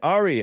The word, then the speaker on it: Ari: Ari in uh Canada is on the line Ari am I pronouncing your name correctly yes Hank you are